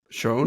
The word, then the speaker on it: Schon: do you pronounce it it's pronounced Shan shown okay yeah like and it's not like in German yeah okay okay then